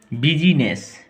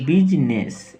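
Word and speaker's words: business: य बिजली है बिजली बिजीनेस इसको बोलेंगे बिजनेस बिजीनेस नहीं इसको सिर्फ बिजनेस हम लोगों ने इसका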